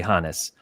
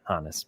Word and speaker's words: Honus: As someone with German heritage and a German exchange student in high school named Johannes, it's definitely Honus. In fact, I ran an Instagram poll last year asking people how they pronounce it, and I think it was a 65-35 say Honus. But it is definitely Honus.